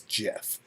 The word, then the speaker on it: GIF: declared the acronym gif should be pronounced with a soft g as jiff this was during a lifetime achievement award at uh at the webby awards in 2013.